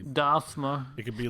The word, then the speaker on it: Dasmer: Well, there's no TH, so it's not Dathmer. But it's like Old English, so it could just be. Dasmer.